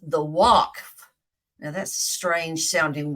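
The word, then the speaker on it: Waqf: area is controlled by a group called The Walk now that's a strange sounding word isn't it it's pronounced W or it's spelled excuse me W A Q F the walks it's a Muslim agency that keeps everyone following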